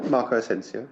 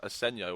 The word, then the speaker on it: Asensio: Real Madrid, Asensio, but I'm assuming it's not pronounced that way. Yeah, Marco Asensio. Asensio? Yeah. Okay, Yeah. I heard it pronounced as Asenio when I was watching it on Sky Sports, which was odd.